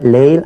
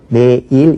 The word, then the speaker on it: 내일: 낙원 올 내자 그러니까 레가 보이지만 레일 안 그러고 내일 이렇게 발음합니다 자 이거는 아까도 말씀드렸듯이